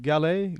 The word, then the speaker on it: Gale: you uh your name it's pronounced galley galley yes correct that's correct galley galley